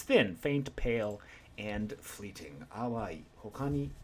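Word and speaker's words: 淡い: Our first word of the day is awai.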